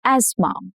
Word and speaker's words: asthma: She carries an inhaler for asthma. Asthma. The is silent in this case. Okay, silent. English simplifies clusters by dropping hard to say sounds. So, as you can see, th is slightly hard in this word and that is why they've dropped the sound completely.